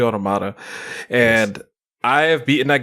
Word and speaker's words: Automata: I completed Nier Automata, or Automata, or however you want to pronounce it. It's actually Automata.